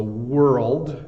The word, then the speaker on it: world: world this RL D the wo is pretty easy W but the rld D is the hard part uh I think for nonnative English speakers so world world my my tongue ends up going to the top of my mouth so world world hopefully